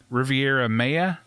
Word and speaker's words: Riviera Maya: idle cancun and uh the how do i pronounce that dan riviera maya riviere oh well riviera maya maya yeah thank